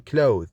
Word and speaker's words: cloth: is voiced like in clothe. You must notice that in clothe, it is a verb. When you have the word as a noun, it is pronounced as cloth, with the, not the.